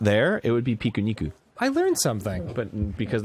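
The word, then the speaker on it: ピクニック: So, the proper pronunciation, as is described in the Japanese text that you see before you, is piku niku.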